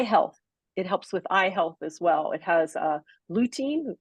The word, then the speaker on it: lutein: It has lutein. Lutein, is that how you say it? Lutein, Routine. yeah, lutein.